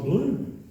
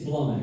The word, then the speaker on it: Blum: the reading of that even if she did mispronounce my name blo yeah it's Blum actually said what was